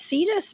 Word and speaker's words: Cetus: Is it Cetus, Barry? Is that how you pronounce that? Yeah, for the whale, like whale.